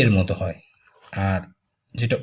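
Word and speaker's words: あ: তারপর হচ্ছে আমরা এইখান থেকে এইভাবে ধরে এই। আর হচ্ছে এই।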